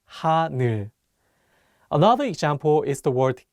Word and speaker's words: 하늘: Many people mispronounce the last syllable as 눌, so be careful. Let's say the word 하늘.